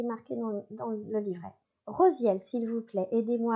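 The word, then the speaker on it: Raziel: Alors ça s'écrit radziel mais ça se dit rosiel pour nous aider à comprendre, assimiler et guérir les souvenirs de nos vies antérieures.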